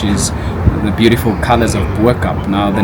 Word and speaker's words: Bo-Kaap: the beautiful colors of Bup. Now the name Bup itself means above the cape or up the cape. So B meaning up meaning cape. Local people would normally pronounce it as bu because it's found right